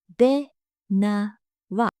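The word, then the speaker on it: දෙනවා: Dhenawa. The first vowel sound is a sound, and all the sounds are short.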